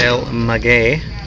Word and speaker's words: El Maguey: go how do you pronounce this place or el maguie we're gonna find out all right we've learned it's pronounced el maguey there's two h's and children's on the menu